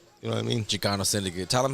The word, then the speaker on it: Xikano Syndicate: out there yeah you know what I mean Chicano Syndicate tell them how to spell that x-i-k-a-n-o-s-y-n-d-i-c-a-t-e to come on all platforms